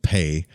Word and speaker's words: Pe: the meditation on the letter pay pronounced pay which is assigned to